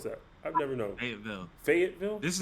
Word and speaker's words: Fayetteville: How do you pronounce that? I've never known. Fayetteville.